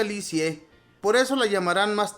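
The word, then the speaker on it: Lisieux: a un pueblo llamado liux se pronuncia licie por eso la llamarán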